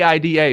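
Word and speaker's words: Aida: Man, that spelling a I d a bang. Her name is pronounc IDA. Ida.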